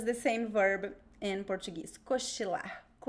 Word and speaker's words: cochilar: So it's the same verb in Portuguese, cochilar. Also with the ch, so be careful with the pronunciation, okay?